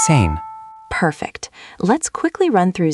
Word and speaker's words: zehn: Again, that's sound. Ts-ain. 10. Zehn.